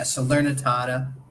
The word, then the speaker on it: Salernitana: Salernitana, is that how you pronounce it? Yeah, Salernitana.